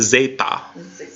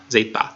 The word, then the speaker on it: zeta: after that is Z with a long a sound Zeta Zeta and it sounds like the Z in days so Zeta Zeta and